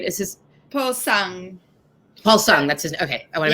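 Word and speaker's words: Paul Sng: How did it, and you have a co-director, Paul Sneg, right? Is his Paul Sung. Paul Sung, that's his. Okay, I want to make Yeah, sure I it's pronounce like his name right. it's Paul Sung, yeah.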